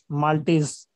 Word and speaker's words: maltase: अब माल्टेज की लिखिए, MALTASE, माल्टेज। MALTASE। तीसरा नंबर लिखिए, एंजाइम लाइसोजाइम।